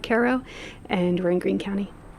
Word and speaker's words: Cairo: Acra, New York, uh, which is inside the town of Caro, New York, spelled like Cairo, pronounced unfortunately like KO and we're in Green County.